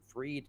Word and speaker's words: Fried: I'm lucky enough to own, my last name is spelled like fried, but my name's Freed. It's just hmm spelled Fried.